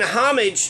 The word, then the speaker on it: homage: we should be paying homage or homage right you pronounce the h we should be paying homage for the car wash